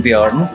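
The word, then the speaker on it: Björn: So Ute and Bjorn were, or as you're supposed to pronounce it in German, Ute and Bjorn, yes, were actually traveling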